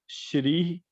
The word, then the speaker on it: क्षौः: मतलब मैं बोलूंगा तो शौ के जैसा ही, लेकिन वो प्रोनाउंसिएशन जो है वो श्री, क्लीम, शौ इस तरीके से होगा।